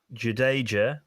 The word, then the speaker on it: Jadeja: Jadeja, for those who want it pronounced correctly.